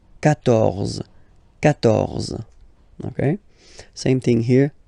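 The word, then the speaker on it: quatorze: Okay, so you will get the sound K here. K. 14.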